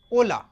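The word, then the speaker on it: hola: जैसे कि मैंने आपको बताया था कल कि स्पेनिश लैंग्वेज में जो एच होता है आपका वो होता है साइलेंट। क्या होता है? साइलेंट। Just a second. हम तो इसको पढ़ेंगे हम ओला ओ ला में यामो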